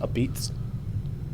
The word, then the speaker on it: apizza: a pizza a piece you don't say the a at the end right it's a Beats it's a beats Beats